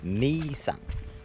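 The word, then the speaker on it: Mỹ Sơn: Making our way back from the temples or the monuments of Misan. It looks like my son, but they pronounce it me son.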